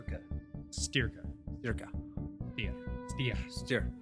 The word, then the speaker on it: Styrka: name of the facility like you're steering a car steer steer huh yeah but don't say like Brendan's ear cut sterka cerca ya see ya stir stir stir cut mr.